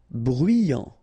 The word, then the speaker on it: bruyant: Bruyant. Final T not pronounced.